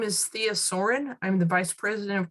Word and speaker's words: Soehren: LinkedIn ID is it's pronounced Soarin like a bird Source or is